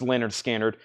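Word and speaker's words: Lynyrd Skynyrd: I got Leonard skinnard pronounced Leonard skinnard $ 36.99 pronounced L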